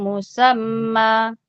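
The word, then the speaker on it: مسمى: Wa ajalum musamma enggak panjang. Wa ajalum musamman oh Mbak, musamman bacanya, Mbak. Oh. Iya, karena bertemu tanda begini panjang.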